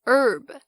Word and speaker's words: herb: 或者呢是在写歌写诗的时候常常会要做的这个押韵 Rhyme，还有韵律节奏 Rhythm 也都是同样的概念， RH 开头 H 不发音。不过有一个等等大家在节目中会听到也是比较要注意的是 herb 香草药草 H-E-A-R-B herb。